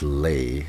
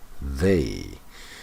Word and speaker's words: they: It's not lay, it's they.